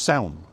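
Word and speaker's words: Samhain: ha s m h a i n it's pronounced sound people heard of that put the Druid thing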